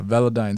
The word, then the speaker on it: Velodyne: you pronounce it yeah velodine style it's like a toothpaste brand yeah sensodyne that's right that's one